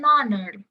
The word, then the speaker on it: honor: Kan bacanya kan H-nya silent ya. Jadi honor, honor gitu. Bukan honor, bukan bunyi awalnya tuh h, bukan h gitu ya.